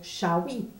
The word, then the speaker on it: Chaoui: Le S n'est pas prononcé, comme vous avez déjà vu. C'est pas prononcé Chaouiz, c'est prononcé Chaoui.